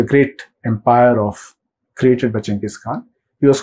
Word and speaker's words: Chinggis Khan: But the Mongol pronunciation, I believe, is Chinggis Khan.